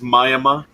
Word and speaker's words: Miami: of its own language and how do you pronounce it uh we we know it as mayama yeah it's miami but they they call it